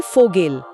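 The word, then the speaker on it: Vogel: का क्या है हां तो वी का उच्चारण हमेशा फ होता है जैसे अंग्रेजी का एफ हमेशा फ हमेशा जैसे पिता के लिए शब्द है वाटर जिसे हम बोलेंगे फाटर फाटर पक्षी को वोगल यानी फोगेल और भरा हुआ को फॉल यानी फोल।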